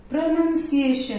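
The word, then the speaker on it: pronunciation: But look at this word प्रोनाउंसिएशन, इधर कोई noun NOUN नहीं है, नन है, NUN, प्रोनाउंसिएशन।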